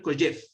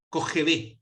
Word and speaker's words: Kojève: A mitad del siglo XX, en Francia, impartió clases un filósofo, él es francés pero de ascendencia rusa, que se llamaba Alexander Kojev, Kojève se escribe, con K.